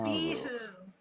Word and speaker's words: Abihu: So the Hebrew names, you can always put the emphasis on the second to last syllable. Oh, okay. Baruch, Abihu.